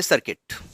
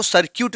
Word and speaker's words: circuit: Next लिखिए सर्किट। सर्किट, अच्छा अब इंग्लिश वाले जानते हैं इसको सर्क्यूट भी पढ़ते हैं क्या?